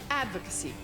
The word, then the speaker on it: advocacy: How do you pronounce this? Advocacy? It's advocacy.